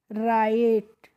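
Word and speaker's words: write: जब भी किसी वर्ड में डब्ल्यू के बाद जब आर आता है तो वहां पे डब्ल्यू क्या रहता है? साइलेंट रहता है। यानी कि हमें डब्ल्यू को नहीं पढ़ना होता है। तो जब इसको हमें साइलेंट रखना है तो हम आर आई टी ई को पढ़ेंगे तो क्या हो जाएगा यह? राइट।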